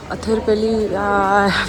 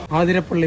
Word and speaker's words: Athirappilly: अथिरपल्ली, फिर से थोड़ा प्रोनाउंसिएशन इशू। आदिरपल्ली वाटरफॉल।